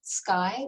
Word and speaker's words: SSCY: network and our center we affectionately call it sky which is the pronunciation of the acronym for special service for